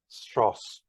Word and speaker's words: Weierstrass: know I know why why are stros that's how you pronounce it and it's called a